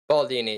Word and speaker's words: Baldini: So here's a trick that I learned from Greg Baldini. Did I pronounce it right? Baldini, yep, that's his name.